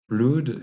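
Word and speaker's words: blod: bloth, en vieux norrois blood, et vous le voyez pas, mais dans les langues nordiques, on l'écrit B-L-O-D, on prononce blood ou blood en danois.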